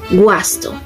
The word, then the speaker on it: guasto: En UA, y es la única excepción que lo leemos como en español, sería gua, por ejemplo, guasto.